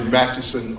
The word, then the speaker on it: Matteson: at an event and I got corrected because I mispronounced it but I want to make sure I say Mattison all the way through um in this